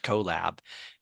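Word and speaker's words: Qllab: it was q l l a b but pronounced collab and it was it was really a combination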